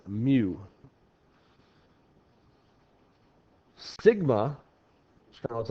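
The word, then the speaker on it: μ: okay that is me I think of the Pokemon Mew if you're a Pokemon person um but it's Mew Sigma kind of looks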